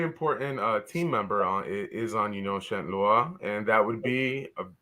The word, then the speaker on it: Union Saint-Gilloise: But next up on our list of opponents is Union Saint-Gilloise. I'm just guessing on the pronunciation.